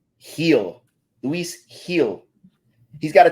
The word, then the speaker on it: Gil: Or are we calling him Gil? Heel.